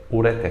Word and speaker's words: ureter: É a dupla do cateté e do ureter. Pode anotar aí e grifar. Elas são oxítona.